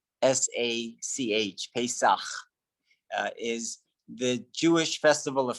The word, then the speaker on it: Pesach: Passover, pronounced Pesach, which is a bit more difficult to pronounce. Pesach, Pesach, is the Jewish festival of freedom.